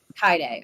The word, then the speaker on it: Kaede: And go to combat and sorry, how do I pronounce her name again? Kaede? Kaede, okay.